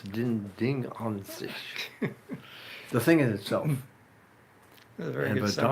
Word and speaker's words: Ding an sich: You know, the Germans pronounce summary. S sort of like TS or Z even, so it's ding an sich.